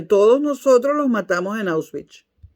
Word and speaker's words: Auschwitz: Auschwitz, Patricia Poleo, Auschwitz. No como tú lo pronunciaste, que no se entendía nada.